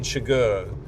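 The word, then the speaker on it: Chigurh: So um the film it starts with uh same as the book um a deputy picking up uh Shagur to pronounce it correctly Anton Shagar his character uh played by Javier Badm uh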